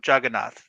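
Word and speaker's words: Jagannath: Juggernaut's English mispronunciation of Juggernaut, the Lord of the Universe, the deity of the temple in Orissa, in Puri.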